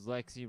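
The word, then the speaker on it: Lexxi: Then we got Lexi Fox, who likes his name because Lexi rhymes with sexy and Fox rhymes with box, which is another name for pussy.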